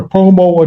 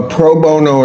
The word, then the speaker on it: pro bono: Uh is it a such thing as a promo attorney? A what? Uh, I may not be pronouncing that correctly.